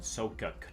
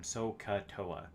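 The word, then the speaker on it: SOHCAHTOA: but just know there is a saying called soca there we go i said it right that time so katoa that actually hurt a little bit uh but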